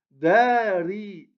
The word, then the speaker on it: dari: Dari, dari. On allonge le da et on prononce le ri, sans allonger.